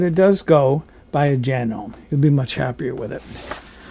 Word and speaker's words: Janome: the way it's pronounced genome I looked it up online a lot of people say Janome supposedly in English it's pronounced Janome in Japan where the machine is made they pronounce it hanomi so I guess Janome